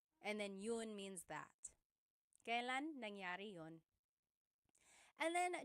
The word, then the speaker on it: kailan: And then just a pronunciation tip, it's pronounced kailan, kailan, but you will often hear it pronounced kailan, kailan. Kailan ang kasal? Kailan ang kasal? But it's not wrong to hear kailan ang kasal. It's a little bit more formal.